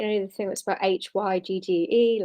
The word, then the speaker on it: hygge: the thing that's about h y g g e like higgy you might pronounce it but it's hygge which is like the danish way of living which is